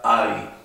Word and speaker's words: Ei: La EI se pronuncia AI. El ejemplo más fácil es justamente huevo, que se escribe y se dice AI.